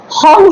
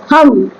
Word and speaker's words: হং: আর এই যে হং লেখা আছে, হং হয় না, হম, ঠিক আছে, হাম, এইচ এ এম, হাম, ঠিক আছে। আর তার মধ্যে একটা চন্দ্রবিন্দু বসাতে হয় ওপরে, হম, নাক দিয়ে হয় উচ্চারণটা, ঠিক আছে সংস্কৃত।